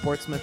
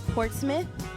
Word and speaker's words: Portsmouth: an interesting one too because it's spelled m-o-u-t-h and you it's portsmouth yeah i don't think they say port's mouth i think they put a little sauce on it portsmouth portsmouth it's kind